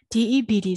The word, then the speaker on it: debt: ဆိုရင် doubt ဒါ or to doubt doubt ဒါပဲ debt ဆိုရင် debt ဒါ at debt ပြီးတယ်လုံးဝမပါအောင်เนาะအဲ့ဒါ debt တွေပါတယ်မဟုတ်ဘူး